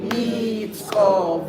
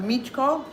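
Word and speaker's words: Micko: Za mladi Mitsko vojvoda džemo. Za mladi Mitsko vojvoda. I'm hearing some Michko. It's not ch, it's s. S. It's like a little TS.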